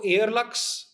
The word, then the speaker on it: Airluxe: So yeah, so that is how Airlux. मुझे ना हमेशा से एक कंफ्यूजन रहा है एयरलक्स को लेके, pronunciation, whether it इज एयर Luke's और इट इज एयरलक्स. So we call it Airlux.